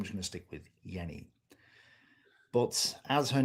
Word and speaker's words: Jenny: Apparently from what he says um it's pronounced as yenni.